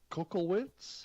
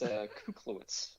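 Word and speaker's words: Kuklewicz: into the show, Andrew Kokowitz, I think. Or did I slaughter that, Andrew? Oh, it's okay, Rob. It's Kuklowitz. Kuklowitz. Okay.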